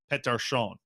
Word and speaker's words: Pettersson: when you throw back the Swedish pronunciation of pet darshan that's uh that's the